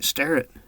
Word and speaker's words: Starrett: And am I pronouncing your last name right? Starret.